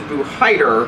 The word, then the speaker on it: Buhaidar: It is Buhaidar. Buhaidar is the actual way to pronounce it.